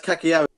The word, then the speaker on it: Cagliari: So that's Cagliari.